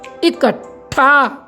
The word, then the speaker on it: इकट्ठा: क्या बन जाएगा साथियों इकट्ठा इकट्ठा इकट्ठा का जब हम उच्चारण करते हैं इसमें हमारा जो ट है का के बाद जो ट लग रहा है वह साइलेंट है क्या है साइलेंट है